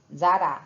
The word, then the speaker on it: Tzara: do tristan tzara né zara se diz assim tristan tzara eu digo mas a palavra se o nome dele se pronuncia cristã zara ele foi o líder do